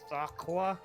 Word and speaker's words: Thoqqua: I'm pretty sure it's Thaqua, but it's THOQQUA.